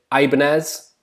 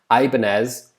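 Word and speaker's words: Ibáñez: those like i said ibanez i presume that's how you pronounce it like the guitars ibanez uh again on loan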